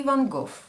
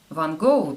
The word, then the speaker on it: Van Gogh: Довольно часто нам приходится игнорировать буквосочетание GH в английских словах tough, love, cough и Van Gogh. Опираясь на то, что все-таки GH бывает часто молчаливым буквосочетанием, многие произносят его как Van Gogh.